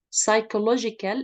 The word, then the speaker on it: psychological: know that's is silent right so we don't pronounce it psychological effects uh it relates um to the way